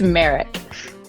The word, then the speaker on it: Marick: It's Merrick. Merrick.